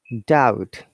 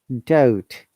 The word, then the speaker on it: doubt: be silent like dead doubt subtle uh remember guys if there is b and t together uh b is always silent these are some examples